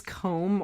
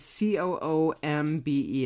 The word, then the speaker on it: Coombe: I don't know if it's Combe or Coombe, because it's got it's Coombe. It's got an E on the end.